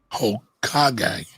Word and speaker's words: Hokage: It's pronounced Hokage from anime Naruto, which means Ninja King or King of the Ninjas.